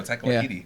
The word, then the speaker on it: Taika Waititi: Taika Waititi? Yeah, that's what I know. Taika Waititi. Yeah. There you go. I know. Oh, okay. All right. Taika Waititi.